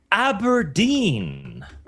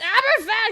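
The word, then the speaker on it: Aberfan: Aberdine. Oh, you just butchered the pronunciation. I'm sorry, Blabs. You're muted, by the way. It's abberan. Google it. Abberan.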